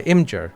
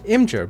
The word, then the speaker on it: Imgur: Now this is happening to any content or images hosted by Imgur, I-M-G-U-R. I'm pretty sure it's pronounced Imgur.